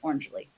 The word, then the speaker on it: Orangily: Think of it of as like if you smooshed orange and happily together. Orangely, okay, so shout out to Maven Space.